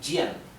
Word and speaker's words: jian: La J se pronuncia J, como la J del inglés, ¿sí? Vamos a representarlo con una GH. J. Bien. Por ejemplo, la palabra Jian, esto se pronunciaría Jian.